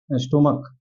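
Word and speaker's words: stomach: है जैसे स्टमक देखिए इसको पढ़ेंगे हम स्टमक अब लास्ट वाला जो सीच आ रहा है इसका उच्चारण च नहीं है इसका उच्चारण क है क है ठीक जब इसका उच्चारण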